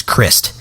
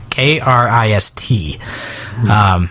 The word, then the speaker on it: Krist: I always get caught up on his first name because it's Christ, Krist. I don't know if you pronounced the T, but I do.